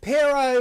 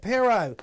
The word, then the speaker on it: Pierrot: Pierrot the Acid Clown. That's how you pronounce it. Pierrot.